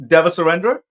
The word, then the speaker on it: Devasurendra: is it's pronounced Devasurendra. Sounds Dever like Surrender. Dever sounds Surrender, like man. never surrender.